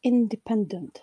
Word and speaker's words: independent: The word independent has five syllables. Independent. Obviously, I'm bad at counting. It has four syllables, where first syllable carries the secondary stress.